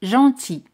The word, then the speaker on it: gentil: L no se pronuncia. Gentil.